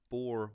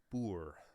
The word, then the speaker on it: Boer: I called it the Boer War okay right and it's actually pronounced boor so right yes our